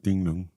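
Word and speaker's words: 狄龍: 띵릉. 그게 홍콩식으로 발음을 하면 정룡을 띵릉인데 그게 아랑드롱의 드롱.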